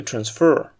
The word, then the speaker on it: transfer: of the airplane but should you use it as a verb don't forget to shift the stress to the second syllable to transfer a jet pump or